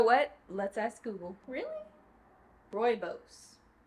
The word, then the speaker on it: rooibos: Pumpkin spice rooibos. You know what? Let's ask Google. Really? Rooibos.